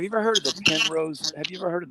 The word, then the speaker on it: Penrose: just put in uh Pen Rose that's how it's spelled p n r o s e Pen Rose triang P or pin pen or pin like like like an ink pen put in a Penrose